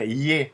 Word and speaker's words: Е: le E sauf que on va le dire y ici et pas e il y a pas